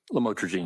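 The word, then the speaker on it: lamotrigine: about the u the lamel otherwise known as lamatroine. Did I pronounce that right? Lamotroine.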